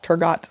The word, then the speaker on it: Turgot: And this guy named Turgot I don't know how to pronounce it. Turgot, there's a T at the end.